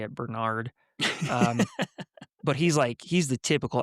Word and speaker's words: Bernard: and he's an alpha plus like Bernard, which is how you say it, Bernard.